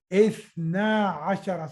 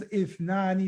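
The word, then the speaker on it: اثنا عشر: So this is like, actually it is ithnani, but you don't pronounce noon, because when mudaf comes as, the mudaf doesn't like the sound of noon. The mudaf doesn't like the sound of noon. So you will not pronounce ithnani, you will say ithna ashara.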